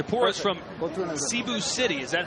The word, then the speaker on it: Cebu: up it's a porous from both in the Cebu City is that how you pronounce it caribou is actually Cebu yeah it's about an hour flight from Manila